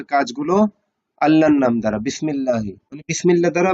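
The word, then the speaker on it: بسم الله: আল্লাহর নাম দ্বারা বিসমিল্লাহি বিসমিল্লাহ দ্বারা বা আল্লাহর নাম বিসমিল্লাহি বিসমিল্লাহি আলিফটা এখানে উচ্চারণ হবে না মুসলিম আল্লাহর উপর ভরসা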